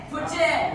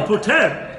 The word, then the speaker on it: poutine: Poutine. Yeah. Oh, poutine. Poutine. The E is silent.